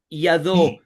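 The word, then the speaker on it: יד: Acá dice be y ad suena yad es mano.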